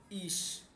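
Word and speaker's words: ich: যদি সে হা হয়, সে হা, তাহলে এর উচ্চারণ হবে স এর মতো, তাহলে স এর মতো। যেমন ইস, এই যে ইস, অর্থাৎ আমি বললাম ই এবং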